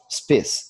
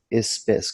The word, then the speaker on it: spes: Pronunciam-se statum, spes, e não estatum, espes, como é comum no português se pronunciar.